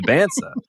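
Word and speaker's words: Dybantsa: And he was like he liked that you knew how to pronounce the name right. Like he was like he was like he really appreciated that. um that I said Dansa and now I'm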